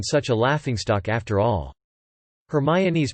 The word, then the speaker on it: Hermione: of the character sounding out her name as hermione to dermstrang's triwizard champion in order to clear